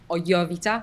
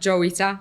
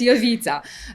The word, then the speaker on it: Jowita: pronounce my name correctly I'm o yita not joita not not Jita not Jita nothing like that yeah it's y Vita H in the beginning